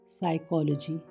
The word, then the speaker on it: psychology: PSYCHOLOGY spelling शुरू होंगे साइकोलॉजी यानी मनोविज्ञान।